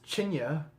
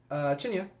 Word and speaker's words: tinne: There's Chinya, which looks like tin, or tinny, tinne. Chinya, which I think is actually the correct pronunciation.